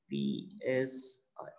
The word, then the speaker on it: psi: Okay, what is this spelling? P-S-I. This is psi. Okay, this is psi. This is how we have to pronounce it.